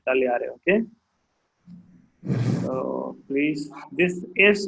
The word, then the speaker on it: tagliare: Why over here tagliare is silent? Because tagliare ke saath G and a consonant is followed. Okay. G ke baad L is there, right? That is why it is silent.